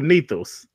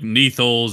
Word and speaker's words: Neth: Like, I intended to just be Neth, like Neth, but people change it to like Nethos and all sorts of things. But like, I roll with it.